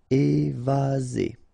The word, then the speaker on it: évasé: Remember, one S between two vowels. Z. Évasé.